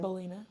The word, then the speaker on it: Ballena: uh how do you say your last name bolina bolina oh my goodness my mind just went